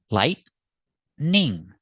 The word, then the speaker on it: lightning: now let's talk about this word lightning pronunciation lightning two syllables lightning lightning is also not